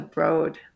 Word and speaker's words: Broad: previous to the academy Museum you're at the broad that's how you pronounce it right yeah okay I always was